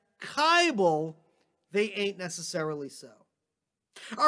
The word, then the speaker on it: Kibel: pronounce my last name you just repeat the following lyric to yourself it ain't necessarily so it ain't necessarily so the things that you're liable to hear from kybel they ain't necessarily so